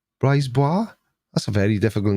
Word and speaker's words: Brisebois: Where's Michael Briseblock? Michael Brisebois. Brisebois? That's a very difficult name to say. I know it's bois on the end because for some reason which I will never understand, It's spelled B-O-I-S.